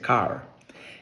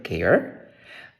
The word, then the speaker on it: car: en inglés se dice car entonces preguntaremos pero si la a en el abecedario es a no Debi ser care pues no es car y es car porque dentro